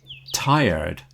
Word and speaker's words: tired: And one final one in the pronunciation is tired, tired. It's not tight and red, not tired. It's tired. You don't hear the R in there at all. It's more of a diphthong sound in the middle.